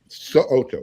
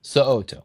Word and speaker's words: So'oto: Make sure you pronounce that last name correctly, because he will correct you if you don't. So'oto, yes. So'oto, boom.